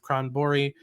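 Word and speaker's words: Stjernborg: a bell it's because the spelling is very different than the pronunciation um it's spelled a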